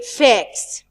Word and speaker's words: facts: For example, we will hear the t sound in fact, but we not pronounce it in facts. Facts. We delete it. We drop it slightly. We don't pronounce the t sound in the word facts.